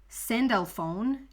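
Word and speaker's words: Sandalphon: good in the world archangel cindelphone is how you pronounce it in english send alphone can help you find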